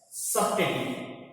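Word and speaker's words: subtlety: Then सबटेटी, ये L silent है आपका, तो सबटेटी, सबटेटी का मतलब एक तरह की सूक्ष्मता या विलक्षणता।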